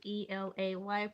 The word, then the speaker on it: LA: It's me, LA, Elay, pronounced like LA, like the city.